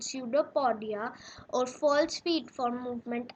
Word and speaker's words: pseudopodia: it takes out some finger like projections called pseudopodia okay i'll just write its spelling here so it's p s e u d o p o d i e okay no portia it's pronounced as pseudopodia okay now these are basically the false feet